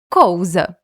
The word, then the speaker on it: cousa: Aqui esta palavra coisa, hoje no português brasileiro vamos falar coisa, mas naquela época a palavra era pronunciada e escrita com "u" no lugar do "i", cousa.